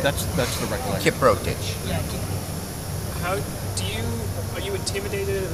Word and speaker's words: Kiprotich: Say it again. Kiprotich. Yes. Okay. So the O is emphasized a little bit. That's the recollection. Kiprotich.